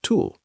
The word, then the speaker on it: TEWL: This invisible leak has a name, transepidermal water loss, tewl, pronounced tulle.